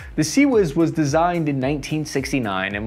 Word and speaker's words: CIWS: the original system is called the phalanx ciws pronounced sea whis the seawiz was designed in 1969 and was intended to